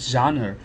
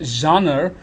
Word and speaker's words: genre: the word genre and we have got two acceptable ways of pronouncing the word genre one is genre as a British way of pronouncing and there is genre so there are American and British pronunciation of the same term and the term implies